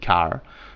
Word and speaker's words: char: by this type char the first syllable of character so some people do call it car but cherries I don't